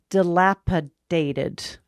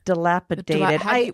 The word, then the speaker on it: dilapidated: Dilapidated. When you say it wrong, how do you say it? I use a T instead of a D, so I would say dilapidated.